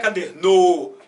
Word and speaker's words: caderno: Não é caderno. Não é caderno. É caderno. Então você vê que das 3, a mais bonitinha, agradável para os seus ouvidos é essa daqui.